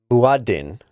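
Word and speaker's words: مؤذن: I looked up the Arabic pronunciation of the muezzin. The muezzin, the person who calls everyone to prayer. And let's see if I can get it in the mic. Muaddin.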